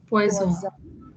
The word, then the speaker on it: poison: S, when it comes somewhere in the middle, is pronounced as z. For example, in the word zoom.